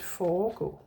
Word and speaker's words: foregå: So, forgå and foregå. Foregå is with an E in the middle. Yeah, that's why the first syllable becomes long.